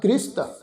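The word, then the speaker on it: ਗ੍ਰਿਹਸਤ: ये शब्द आ जी गग्गा, गग्गे नूं सियारी, गग्गे दे पैर विच तुसीं देखो अद्धा रारा लगा होया है। इस शब्द का उच्चारण करांगे जी गृहस्थ, ठीक है ना जी।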